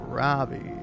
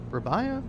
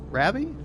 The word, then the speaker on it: Rabbi: Now, Ravi, what? Where were we? Rabbi. So, if I'm pronouncing your name, Rabbi, shortened. Rabby. Yeah, actually.